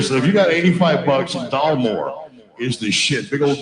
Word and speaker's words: Dalmore: Dalmore? Yeah, Dalmore.